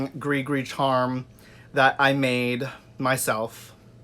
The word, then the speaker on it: gris-gris: gr is and no most people think it's pronounced gris-gris but it's not it's pronounced gris-gris and this is a little Gregory charm this